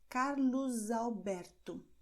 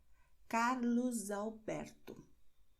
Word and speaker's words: Carlos Alberto: Ou também a letra S no fim da palavra, se a palavra seguinte começa com vogal. Então, nós teremos Carlos Alberto. Veja a letra S no fim e a seguinte palavra com uma vogal.